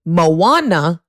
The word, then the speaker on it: Moana: Their son was watching Moana. That's how you pronounce it.